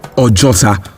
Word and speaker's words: Ojota: So in Yoruba language, there is a formula where two vowels sit side by side in one word, only one is pronounced, while the other serves as an invincible stress or an emphasis in the word. So Ojuota gradually became Ojota, Ojota, Ojota, Ojota, Ojota, a